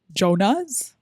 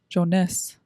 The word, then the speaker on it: Jonas: But it's Jonas. Jonas? Yeah. The Jonas Brothers. The Jonas brothers. Joness.